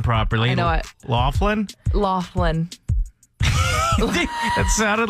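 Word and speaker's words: Loughlin: Lori, also known as Aunt Becky, mainly because people don't know how to pronounce her last name properly. I know it. Laughlin.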